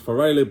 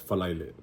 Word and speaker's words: Falaile: But I'm putting this technically as faraile, but you'll always hear it as falaile, falaile, aso falaile.